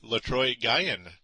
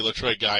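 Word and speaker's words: Letroy Guion: getting two sacks and lroy Gan I've been setting his name wrong forever lroy Gan it's really lroy guy and he adds a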